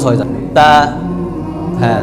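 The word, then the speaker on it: ت: এটা একটু সমস্যা আছে, এটা হচ্ছে তা, অনেকে আমরা সা বলি, মানে বাতাস বাহির করি বলার সময়, হরফটা যখন উচ্চারণ হবে তখন বাতাস বের হবে না, শুধু স্পষ্ট হবে তা। হ্যাঁ, খালি বলবেন তা, জিব্বার আগা থেকে তা তা তা তা তা।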